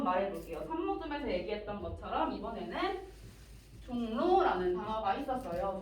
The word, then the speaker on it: 종로: 산모듬에서 얘기했던 것처럼 이번에는 종로라는 단어가 있었어요. 종로라는 단어를 보시면 자, 이응이 비음이죠. 비음이라는 단어가 리을이라는 비음이 아닌 단어를 만나서 발음이 종로라고 바뀌면서 비음이 됐어요.